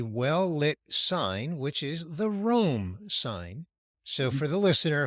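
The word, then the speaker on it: Rolm: shoulder is a well-lit sign which is the Rome sign so for the listener who may not know the Rome name is spelled r o l m as in Monday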